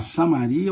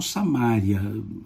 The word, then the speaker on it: Samaria: Samaria ficava no meio pode se chamar Samaria ou samária as duas pronúncias estão corretas a Samaria ficava no